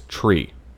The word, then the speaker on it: tree: Pronounced phonetically, 3 is tree, as in the thing with fucking leaves on it. 5 is fife, F-I-F-E. And 9 is niner.